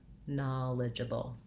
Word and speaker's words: knowledgeable: itself break it down and then add your stress first syllable eligible knowledgeable when i can say